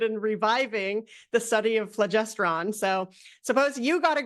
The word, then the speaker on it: phlogiston: due, I believe it's phlogiston. Jane Bambauer: Phlogiston, okay, so- Eugene Volokh: No, no, no, I think it's pronounced phlogiston, but there's no r.